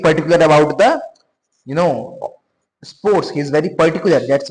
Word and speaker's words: sport: Okay, this that T is silent, right? Last letter consonants in French are silent.